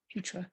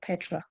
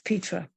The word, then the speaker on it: Petra: Thank you for pronouncing my name properly, Petra. Thank you. Very kind. I hate the pronunciation of Petra. It's Petra.